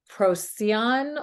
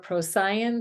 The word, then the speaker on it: Procyon: portals featuring the stars of procyon or procyan different ways of pronouncing it Beetlejuice and Sirius that